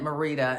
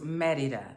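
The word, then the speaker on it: Mérida: here in merida and i've been calling it marita until i got here and people were like no it's me mereda merida so it's merida even though it's called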